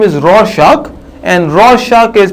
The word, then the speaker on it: Rorschach: His name is Rorschach, and Rorschach is pronounced by R-O-R-S-C-H-A-C-H, and this is a famous ink blot test of the Rorschach test.